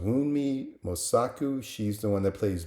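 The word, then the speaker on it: Wunmi Mosaku: Uh, I don't know how to pronounce her name, but I think it's pronounced Wii Mosaku.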